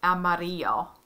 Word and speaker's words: amarillo: a yah sound this the color amarillo so this is a y sound and then um